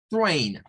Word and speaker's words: train: El AI en el inglés se pronuncia como A. Bien.